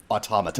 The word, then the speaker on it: Automata: I don't know why I decided to pronounce it like stigmata, but I did. But it's probably automaton. So Automata. Right. Yes. Automata. Right.